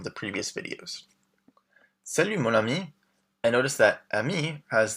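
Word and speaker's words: amie: So it's just ami with the I ending for men. But the pronunciation is the same. So ami and ami are pronounced exactly the same.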